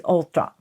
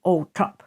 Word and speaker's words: Althorp: Now, I looked it up because the old-fashioned way of pronouncing it is Althorp. It's actually Althorp.